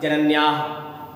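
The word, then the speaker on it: जनन्याः: और उच्चारण स्थान क्या होता है, जैसे आपने जनन्या कहा है और जहां आपकी विसर्गें लगी हो वहां आप हल्का हा का उच्चारण कर देना, जनन्या।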